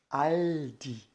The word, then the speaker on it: Aldi: Fazendo este movimento para poder pronunciar o Aldi, né? Então a gente abre a boca e, né, a ponta da língua toca nos dentes superiores e assim nós conseguimos pronunciar o L e Aldi, tá bom?